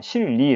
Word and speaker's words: 실리: 여기서 는 "r" 발음 으로 씁니다 . 우리 는 실제로 "ri" 라고 씁니다 . " 실리 " 처럼 요 .